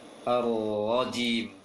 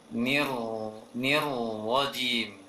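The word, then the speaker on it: الرجيم: Mulai dari ta'awudz itu ar-rajim. Ra yang bertasydid ini langsung ditebalkan ketika masuk tasydidnya. Ar-rajim. Wajim. Jangan wajim. Jangan dimanyunkan bibirnya ketika membacanya.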